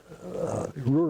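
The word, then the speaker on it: Roer: of Duran, which was on the Ruhr River, R-O-E-R, as opposed to R-U-H-R, but pronounced the same way.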